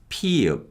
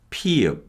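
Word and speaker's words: ㅍ: heavily aspirated sound that's similar to p sound and that's p p p is written like this p is a voiceless sound with heavy aspiration so it's let's hear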